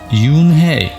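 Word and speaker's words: Unhei: no and i corrected it's spelled u n h e i it's pronounced yoon hey oh it's you hey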